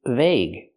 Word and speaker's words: vague: The first word is argue, and the second word is vague, and the third word is dengue or dengue. They're all pronounced differently.